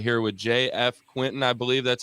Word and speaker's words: JF Quintin: we're going to dive in right here with JF Quinton I believe that's how it's pronounced correct exactly we're g to dive in